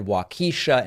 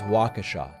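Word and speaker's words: Waukesha: a focus group in wakesha Wisconsin I hope I'm pronouncing that correctly at one point I said wakisha and that's very much wrong I believe that it is wakesha don't of course they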